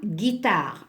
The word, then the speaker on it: guitare: une chanson avec ça guitare alors si je mets uniquement la lettre G je vais la prendre en Sagittaire donc je dois mettre j'ai eu c'est ma famille aime